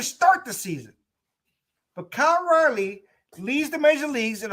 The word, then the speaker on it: Raleigh: know kyle riley and i don't mean riley r-i-l-e-y i'm somebody riley like raleigh north carolina that's exactly how it's spelled kyle riley who is